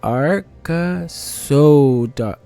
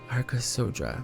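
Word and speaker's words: Arkasodara: The way they actually pronounce it is like Arkasodra. Oh. Arkasodra. Okay.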